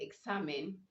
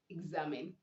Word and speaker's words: examine: exists you don't say you don't say examine you say exam examine okay you say z because you have the ex before a stress vowel so the ex is changing so the sound z we also have other